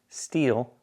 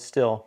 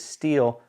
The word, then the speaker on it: Stihl: pronounce the name and it's actually pronounced steel not still some people call it still but it is steel like the metal answered